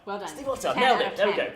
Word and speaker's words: Stiefvater: We're at YALC with Maggie Stiefvater. I've said it right. Well done. Stiefvater, nailed it.